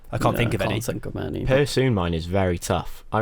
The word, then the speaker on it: Persoon: Is it Persoon? Persoon.